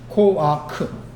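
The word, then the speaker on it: כֹּחַ: 발음은 코아크입니다. 코아크.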